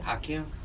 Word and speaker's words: Hakim: I was like, yeah, you know, like Hakim. Hakim. like Keem.